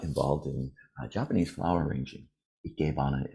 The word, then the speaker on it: Ikebana: Ikebana is how it's pronounced, with my American accent, Ikebana.